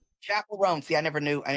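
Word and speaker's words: Chappell Roan: Is it Chapel Ran? Yeah, Chapel Ran.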